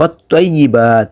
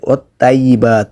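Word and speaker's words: وَالطَّيِّبَاتُ: তো ত এর উচ্চারণ করতে হবে আপনাকে একটু মোটা করে, ত জবর ত, তজের তি, ত পেশ তু।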